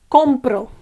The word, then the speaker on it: compro: be I don't know I buy is compro okay compro o is the accentuated one compro compro okay um and